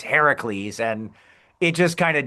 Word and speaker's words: Heracles: is called Hercules, but the Greek pronunciation of the hero's name is Heracles.